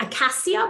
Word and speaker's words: acacia: So an acceptable substitute for psyllium would be acacia fiber, A-C-A-C-I-A, like acacia, but it's pronounced acacia, but not bentonite.